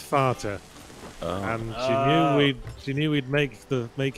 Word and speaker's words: Vater: Oh, because they didn't want everyone to be like, Vader! Vader? No, because it's pronounced Vater.